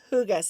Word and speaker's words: hygge: called hygge it's spelled hyg GE but it's who guys see that pronunciation at the bottom and this of course